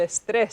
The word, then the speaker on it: estrés: Y 2 sílabas solamente. Okay. Okay. ¿Qué ¿Estrés piensas? o estrés? Estrés. Estrés, al final. Al final. Entonces, las palabras con S necesitan un acento si hay Muy bien. énfasis al final.